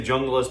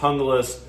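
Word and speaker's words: Junglas: Essie hungus um it's spelled some people say jungas but it's actually pronounced hungus this is the original one um a big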